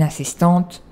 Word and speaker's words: assistante: Assistant ou assistante, just have an e, that makes you pronounce the t for if the subject is feminine, so un assistant, une assistante, comme en anglais, assistant.